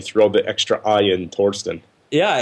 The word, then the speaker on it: Thorsten: So, Thorsten Heins, and it's Thorsten. There's no I in there. It's not Thorstein. It's the EI in Heinz that screws people up, and they throw the extra I in Thorsten.